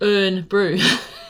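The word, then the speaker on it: Irn-Bru: it's funny because it's called iron Brew but it's like N Brew it's what look how it's spelled n iron but yeah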